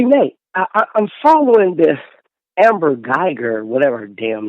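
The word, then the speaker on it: Guyger: Hey, Nate, I'm following the Amber Geiger, whatever her damn name is, case.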